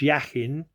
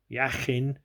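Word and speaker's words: Jachin: is the columns yeah we pronounce yakin yakin by bending to the right and Boaz by bending to the left okay we do this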